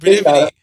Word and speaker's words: Peripety: Peripety.